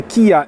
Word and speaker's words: Kia: okazję być na premierze samochodu który nazywa się kija ev6 tak powinno się to wymawiać chociaż mam wrażenie że wszyscy będą mówić